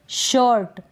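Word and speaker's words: shirt: यहाँ पर आर को आप बिल्कुल हल्का सा प्रोनाउंस करेंगे, बिल्कुल थोड़ा सा आपको बोलना है, अगर ना भी बोलेंगे तो भी चलेगा। शर्ट क्या है, शर्ट। ये जो आई है इसका उच्चारण हो रहा है अ करके, शर्ट।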